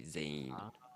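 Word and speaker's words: 全員: a room it's um Zayn Zayn even though it's written Zen in you would say Zane yeah okay so here's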